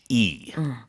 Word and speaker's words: niche: Niche is Niche. 틈새라는 뜻이어서 niche market, 틈새 시장이고요. 발음은 niche도 있지만 niche라고도 합니다.